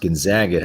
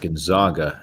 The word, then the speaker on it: Gonzaga: gonzaga um dylan gonzaga also famously pronounced gonzaga and not gonzaga as we made the mistake much of last season um okay hold on